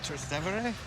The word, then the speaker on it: Trastevere: So this section here is called Trastevere? Did I pronounce it?